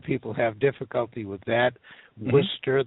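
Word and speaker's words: Worcester: have difficulty with that Worster they say they call it Worchester and gler glower it's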